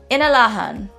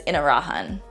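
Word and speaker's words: Inalåhan: Inalahan. Inalahan. This can also be pronounced as Inarahan.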